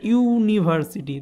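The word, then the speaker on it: university: সেমভাবে হচ্ছে ইউনিভার্সিটি, ঠিক আছে, এখানে হচ্ছে ইউ এর মতো উচ্চারণ হচ্ছে, প্রোনাউন্সটা কিন্তু ইউনিভার্সিটি, তো এই জন্য এখানে কিন্তু এ বসছে।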